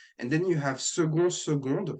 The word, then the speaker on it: seconde: Seconde. We would pronounce the D when second is feminine, so seconde.